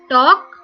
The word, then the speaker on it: talk: Talk. Here also L is silent.